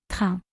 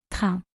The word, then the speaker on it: train: Same word in English and French, but the pronunciation is slightly different. Train. Train.